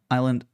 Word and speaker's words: island: And one time in middle school, I was called I read island as island pronouncing as the S instead of being silent island.